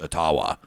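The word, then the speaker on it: Ottawa: email and said you know it actually is pronounced atawa he said in El Gman so Tucker Carlson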